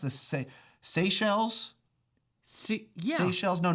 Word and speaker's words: Seychelles: I think it's pronounced the Seychelles. Yeah. Seychelles. No, not seashells.